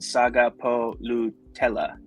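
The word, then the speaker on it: Sagapolutele: That's how you say it's not pronounced Jaron, it's pronounced Sagapulutele.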